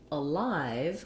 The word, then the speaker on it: alive: um sound ah then when we switch to alive we have second syllable stress so here my live